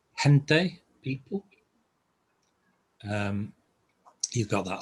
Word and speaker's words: gente: can be a sound as in hen so an example would be gente people um you've got